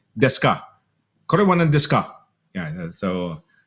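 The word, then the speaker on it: です: Yung des D-E-S-U, desu. Pero like I said, they don't pronounce the yud. Omegi kakarete oresi des. Desu. If we were to read it, desu, oreshi desu. No, they say it oreshi des.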